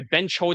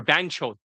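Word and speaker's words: banchod: I benchoed it a little bit or banchoed. That's how you pronounce it. Banchoed. I just call it benchoding. That's how I was kind of spell it. But it's actually called banchoed. Kind of like mama cho, right? It's like motherfucker. Bancho is sister fucker.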